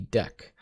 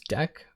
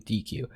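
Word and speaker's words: deque: type known as the deck so yes this says DQ right here and the title of the thing is spelled DQ um but the way that you pronounce it is deck uh and I just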